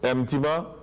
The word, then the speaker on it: Mtima: this paper, went to Dawood, I said, Dawood, pronounce this name. Dawood said, Mtima. I said, call me that from today. That is my name from today. And that is very, very interesting. So Mtima. Mtima means heart, and means knowledge.